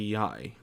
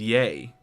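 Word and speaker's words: Yae: Lady Yai. Does that mean this whole time I've been saying it wrong? I thought it was Yay. As in Yay Miko. Correct. I guess it's Lady Yai Yai is the Miko.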